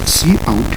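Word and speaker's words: cout: c o u d which we pronounce as c out and it stands for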